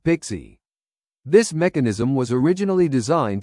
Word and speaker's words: PKCE: PKCE stands for proof key for code exchange and it is pronounced pixie.